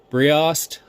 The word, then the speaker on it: Briost: All right, today on the leather, I have the Briost, I believe is how it's pronounced, titanium cutlery set.